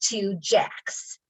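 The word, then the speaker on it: Tujague's: picked out and it's two jacks and uh it is spelled differently than it sounds it's t-u-j-a-g-e-s and it's but it's pronounced two jacks and it is the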